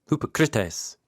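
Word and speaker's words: ὑποκριτής: here we go so hypocrite is a Greek word spelled with English letters and the accent is actually on the CR so Hypocrites is the Greek word but we say hypocrite yeah what Jesus means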